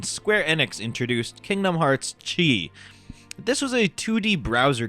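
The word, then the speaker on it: χ: Enix introduced Kingdom Hearts Chi this was a 2d browser game exclusive to Japan that was spelled with just an X but was pronounced by saying Chi and it had micro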